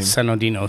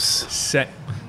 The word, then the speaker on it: Sinodinos: then how do you say your last name San oinos San oinos San oinos okay now is that where is